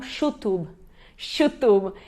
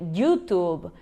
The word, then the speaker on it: YouTube: E aí no caso, por exemplo, quando estava na Argentina, eles falavam chutub, né? H, se fosse em outro lugar, poderiam dizer YouTube, YouTube, ã, enfim, né? Então, tem várias YouTube, depende da pronúncia que eles fazem do Y.